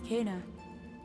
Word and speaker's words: Kena: My name is Kana. I helped Benny and Saya. So she pronounces herself Kana.